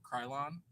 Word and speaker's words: Kryolan: But Kryolan, so it's technically Kryolan, but when you say it, it's just like Krylon.